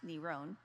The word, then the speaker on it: Neron: The Greek letters of his name is N-R-O-N, pronounced Neron.